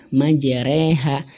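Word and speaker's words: مجريها: Ro yang dibaca imalah di kalimat majreha. Nah, majreha. Nah ini bacanya ke majreha.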